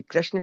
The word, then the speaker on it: कृष्ण: हमसे हो रहा है कृष्ण हो रहा है। कई लोग कृष्णा बोलते हैं।